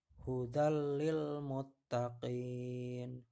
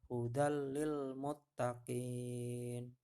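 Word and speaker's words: هُدًى لِّلْمُتَّقِينَ: biar gampang hafalnya ya kita coba doa-doa praktek membacanya dari contoh di bawah ini ya hudallilmuttaqin hudallilmuttaqin ya tanwinnya di huruf Dal masuk ke dalam huruf lam tidak perlu didengungkan hanya dileburkan saja ya hudallilmuttaqin nya tanwin bertemu huruf lam lainnya Ini contohnya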